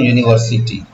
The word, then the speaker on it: university: अब मैं बोलता हूँ यूनिवर्सिटी, क्या बोला? यूनिवर्सिटी। इसको जरा हिंदी में लिखना तो आप बोलोगे सर you knee were city. देख लेना स्पेलिंग का क्या। अब जरा पढ़ो तो मैं क्या लिख रहा हूँ? YOUNIVERSITY।